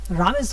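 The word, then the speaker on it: rummage: রামেজ বা রামেজ উচ্চারণটা ইয়ের মতো, যেমন লাগেজ লিখতে কিন্তু লাগেজ এরকম.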